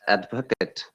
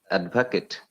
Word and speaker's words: advocate: can remember just now there's advocate as an adjective and also it acts as a verb like noun noun and when uh it's used as a adjective noun they are calling it advocate that's right there are hundreds of words honestly yes there's some okay let me finish it so when it is verb now we are stressing the second part that is rising down